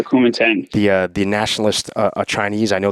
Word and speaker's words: Kuomintang: Is that how to pronounce it? Kuomintang? Or the Chinese That's how I would pronounce it. Yeah, the Kuomintang.